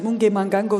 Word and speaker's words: Mugemangango: Monsieur Mugué-Mangango, dans quoi votre parti, le PTB, investirait-il en priorité en termes d'infrastructures?